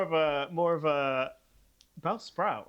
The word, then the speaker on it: Bellsprout: So, um, well, Bell Sprout. Bellsprout. Is it you, um, you put the emphasis on the second syllable?